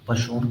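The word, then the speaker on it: Poisson: गलत प्रोनाउंस करते हैं, ये पॉइजन नहीं होता, ये पोषण पोषण कुछ ऐसा बोलते हैं इसे, ये हम बोलते हैं। ये भैया हमको तो लिखना है एग्जाम में। हाँ, मैं मतलब कि अब एक प्रोनाउंसिएशन बता रहा हूँ, तो ये हम पॉइजन बोलते हैं, पर पॉइजन नहीं होता, ये पशोन होता है, पशोन, पशोन ब्रैकेट, ठीक है।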